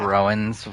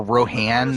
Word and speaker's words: Rohan: Rowan's winning, or Rohan, that's how you pronounce the name, right?